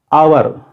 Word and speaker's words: hour: Hour. The word hour begins with a sound. H is silent here. It is pronounced as hour, not hour.